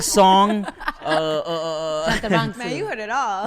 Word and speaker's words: Chantarangsu: Chantarangsu? Well, it's that, but every A is a ah, so it's Chantarangsu. Chantarangsu.